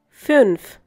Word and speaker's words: fünf: Fünf. Once again, fünf. The two dots that you find on U are known as umlaut.